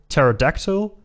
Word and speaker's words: pterodactyl: bit like the word pterodactyl, the flying dinosaur. That has a P at the beginning of the word as well, but the P is silent.